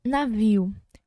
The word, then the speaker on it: navio: A palavra navio, quando a gente vai pronunciar, quando a gente vai falar a palavra navio, a gente fala claramente a letra N.